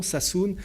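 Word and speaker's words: Sassoon: Roberto casalio s'appelle Enrico Sassoun je vous donne son nom saoune ça s'écrit sa2s2o et quand on s'intéresse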